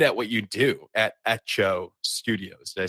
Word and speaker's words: Hecho: you're so good at what you do at ETO Studios did I say that correct you said